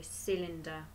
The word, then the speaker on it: cylinder: one this is a cylinder good now a cylinder is actually spelled with a letter c which makes a s sound doesn't it that's a bit funny so cylinder cylinder good what's this